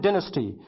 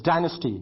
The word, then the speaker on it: dynasty: The Mauryan Empire, the segment is the Mauryan Dynasty. The pronunciation of this word in British English is dynasty and in American English is dynasty. We'll stick to dynasty.